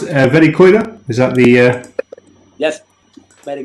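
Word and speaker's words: Verikoira: is it pronounced Verikoida?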